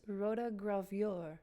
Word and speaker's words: Rotogravure: It rhymes with your. It does? Rotogravure. Like that?